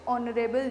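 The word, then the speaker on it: honorable: discuss किया था कि ऑनरेबल के अंदर एच जो है वो साइलेंट होता है, तो हम लोग को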